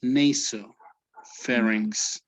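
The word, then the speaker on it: nasopharynx: um okay this uh this one would sound like an a so it would it would be naso pharynx and the a here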